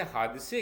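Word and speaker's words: حادثه: तरह से जुड़े हैं फासी में हम इसे हादसे कहते हैं जबकि हम हिंदी में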